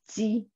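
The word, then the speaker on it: 鸡: In Mandarin, we pronounce it ji.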